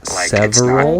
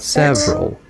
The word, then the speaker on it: several: Like it's not several, it's several. You just skip the syllable.